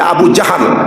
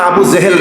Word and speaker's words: আবু জাহাল: ওই যে আবু জাহাল শব্দটা আবু জেহেল না, আবু জাহাল।